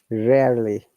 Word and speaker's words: rarely: Hydrogen rarely, rare. Okay, Ariel. Rarely. You see, the second R is silent.